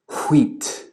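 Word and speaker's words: hwīt: Well, like I just said, Old English does not write a sound that is not pronounced. So this word at the bottom, which means white or clear or bright in Old English, is wheat.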